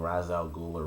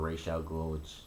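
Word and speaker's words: Ra's al Ghul: that's the big thing Raz Al ghula Ray shouts whichever way you want to pronounce it he's coming into Starling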